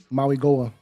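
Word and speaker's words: Mauigoa: Maui Goa.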